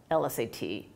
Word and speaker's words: LSAT: is a consonant but you pronounce l as if it has a vowel in front it's it's pronounced e-l-l right so the correct way to do that is to say an LSAT as opposed to a